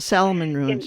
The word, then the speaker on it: Salmon Ruins: But also, I visited Salmon Ruin, I believe it's pronounced. Salmon Ruins, yes.